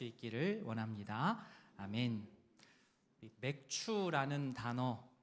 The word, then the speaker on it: 맥추: 아멘.이 맥추라는 단어. 어, 사실 교회를 다니지 않으면 많이 생소하시죠? 생소한 단어입니다. 그래서 교회 많이 안 나시는 분들은 이제 맥주라고 많이들 발음을 하세요.